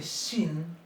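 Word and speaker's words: שׁ: Para que esta letra se pronuncie shin, se le coloca siempre, un puntito a la derecha, arriba, en la patita derecha. Y si le ponemos ese mismo puntito a la izquierda, se va a pronunciar sin, como letra S, como una letra S igual que la letra samej.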